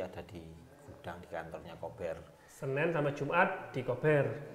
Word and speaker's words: Kober: Ternyata bacanya kober ya ini ya pemirsa ya. Karena banyak yang bilang kober bacanya. Kober atau gober Atau biasanya. kober ya. Ternyata ini ownernya ngomong ya, cara bacanya itu adalah kober ya.